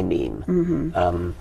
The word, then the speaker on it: meme: a Greek word, "my meme," and I subtracted the initial "mi" and just called it "meme." I wanted something that ideally should have rhymed with "gene," but it doesn't quite rhyme with "gene."